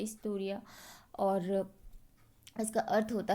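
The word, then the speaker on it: ἱστορία: इसका शुरुआती प्रोनाउंसिएशन ई से स्टार्ट होता है, इस्टोरिया।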